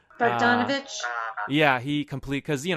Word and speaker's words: Bogdanovich: I don't know if you know of this, but Peter Bogdanovich, I think that's how you pronounce his name. Bogdanovich?